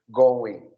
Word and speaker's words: going: Esse G não tem pronúncia do ING, é o nosso andando, going, bebendo, drinking, comendo, eating. Esse in, sem o G.